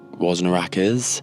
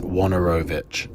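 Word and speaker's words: Wojnarowicz: Pete Hajar and also David W wasaknarakis. It's Wanorovich.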